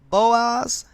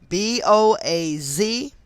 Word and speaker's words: Boaz: digit two they are the two pillars of boaz and jayton so i'm gonna spell those just in case i mispronounced them but um these temples are in the bible b-o-a-z and j-a-c-h-i-n boaz and jachin which were once